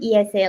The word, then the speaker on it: IESE: a current student at Esa is that am I saying that right is that how you guys pronounce it yeah we pronounce it Esa like the Spanish way okay that's what I